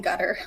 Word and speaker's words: Qatar: And my Arabic teacher taught me that even though it looks like a Q in most transliterations, you pronounce it like a G, but you pronounce it as far back in your throat as possible. So it's almost like you're swallowing your tongue.